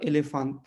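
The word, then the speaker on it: elefante: वो अ हो जाएगा, लेकिन अगर शुरू में आए या बीच में आए तो वो हमेशा ए होगा, है ना। जैसे यहाँ एलिफेंट, एलिफेंट का मतलब क्या है, हाथी, है ना।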